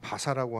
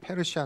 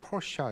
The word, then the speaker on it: 페르시아: 근데 우리는 바사라고 하는데 외국한테서 바사 하면은 전혀 못 알아들어요. 페르시아 내지는 영어식 발음이 퍼시아 이렇게 해야지 알아듣는다고 해요.